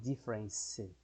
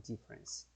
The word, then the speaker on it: difference: Não estou falando difference, como a gente fala em português. Estou falando difference. Desconsiderando a letra E.